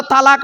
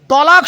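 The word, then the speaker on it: طلاق: আরে বাবা বলো না এই শব্দটা তালাক নয় শব্দটা তালাক নয় শুনে যান আজকের শব্দটা হলো তলাক কি বললাম তলাক ওর আরবি উচ্চারণ কি তম আলিফ কফ বাংলা উচ্চারণ কি তয় বয় ল আকার ক তলাক তলাক মানে পৃথক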